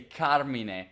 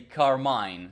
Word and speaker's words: Carmine: know I you know first of all I'm Italian so I say Carmina but I always hear people say carmine so I should I guess the right pronounce is carmine probably it's very Americanized in America they called me carmine but I prefer the Italian translation which is Carmina sounds so much